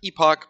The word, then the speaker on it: epoch: It looks like epoch, but typically it's pronounced epoch, or cycles through the entire training data.